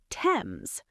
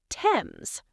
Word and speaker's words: Thames: You say it like this, Thames. The H is silent, so it is not Thames, it is Thames.